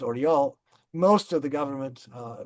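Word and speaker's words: Orel: Um most of the prisoners in the Oral prison, the city is pronounced Oriel, most of the government, uh the prisoners were evacuated to the east.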